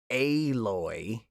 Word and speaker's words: Aloy: Everyone is in love with Ashley Birch's character Aloy, which I will never get comfortable with saying. It sounds like a really bad mispronunciation of alloy.